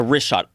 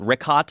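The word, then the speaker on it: Richat: The rishot.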